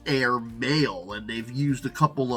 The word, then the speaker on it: Airmale: up with air mail it is spelled a i r m a l e but it also sounds like air maale and they've used a